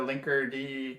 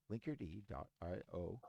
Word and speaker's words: Linkerd: Now, is it pronounced Linkerd or Linkerd? You keep saying Linkerd, so I'm yeah. gonna I would say defer. I would say Linkerd. I don't think I've watched any of their like videos or like I've never heard a Linkerd person say it. You know what it is? The K is silent.